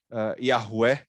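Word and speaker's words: Yahweh: ti, do Deus, do Yahvé, né? Yahué, que é a expressão mais correta, a pronúncia mais correta, e outro livro dizendo, não, pode adorar Baal, pode adorar os Baalins, pode fazer o que...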